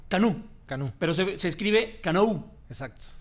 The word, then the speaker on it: Canou: Canú. Canú. Pero se escribe Canú. Exacto. ¿Y por qué se escribe Canú? Pues lo que es el término francés que se utiliza para canoa.